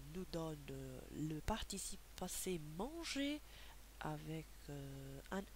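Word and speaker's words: mangé: vous fais remarquer que la prononciation ne change pas à l'infinitif et au passé euh au participe passé on dit manger manger écouter à l'infinitif écouter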